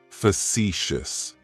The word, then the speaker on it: facetious: Facetious has 3 syllables, and the stress is on that second syllable. It's like you're just saying the letter C for sea. That first syllable has that schwa, that sound. Facetious, facetious.